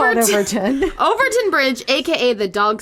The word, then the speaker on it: Overtoun: Overtoun. Overtoun. With a weird U. I would still say Overtoun. Okay. Overtoun Bridge. That's just easier than trying to go Overtown. Which now makes me think